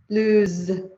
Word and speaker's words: lose: So notice the difference in pronunciation. Loose, lose.